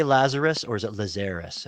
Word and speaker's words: Lazarus: Now, do you say Lazarus or is it Lazarus? How do you say it? I say Lazarus. Lazarus. Yeah, that seems about right to me.